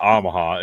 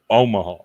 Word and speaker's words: Omaha: saying you're saying ahaha it's not ahaha it's Omaha I never pronounce it